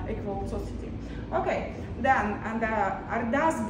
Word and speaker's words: Ardas: I just explain you pronunciation. The first line is Ardas. Ardas, it means I asking. So Ardas, it's like a prayer, or I ask you.